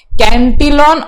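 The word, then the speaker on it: Cantillon: ठीक है, आप कैसे भी प्रोनाउंसिएशन कर सकते हो, इधर 2 प्रोनाउंसिएशन दिया हुआ है, कैंटिलॉन और कॉटिलॉन।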